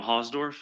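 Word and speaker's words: Hausdorf: My name is Hosdorf. My last name is spelled H A U S D O R F.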